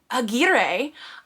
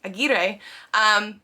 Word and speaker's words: Aguirre: Apparently this is more of a Spanish, like Spain last name, and so some people do pronounce it in the Spanish way, Aguirre, but then it has been Americanized for people here as well.